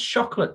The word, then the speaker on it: Chocolat: When's Chocolate 2 coming out?